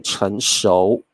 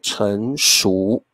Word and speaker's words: 成熟: 好，各位同学，如果你在台湾，我们会念成熟。